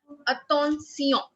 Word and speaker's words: attention: Attention. T-I-O-N. Ma'am, can you T-I-O-N tell in French is T-I-O-N does not sound shun. Like in English, it sounds shun.